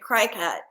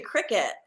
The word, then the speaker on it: Cricut: Cricket you know Cricut sounds like it would be spelled like the game cricket or the bug but no Cricut is spelled c c oh I had been pronounce pronouncing it cry cut and I was embarrassed